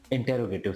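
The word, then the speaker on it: interrogative: में वो होता है इंटेरोगेटिव सेंटेंसेस। क्या बोलेंगे? इंटेरोगेटिव। कई लोगों से मैंने सुना है इंट्रो बोलते हैं, बहुत बहुत ही गलत प्रोनाउंसिएशन है वो।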